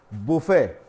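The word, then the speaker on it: buffet: एक और ज्यादा उसे किए जाने वाला है बफेट बी यू एफ एफ आई टी अक्सर इसे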